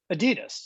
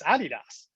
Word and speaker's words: Adidas: In the US, you know, we pronounce uh this brand, this iconic brand of football, we pronounce it Adidas, right? Not the rest of the world in Europe. No, it's Adidas.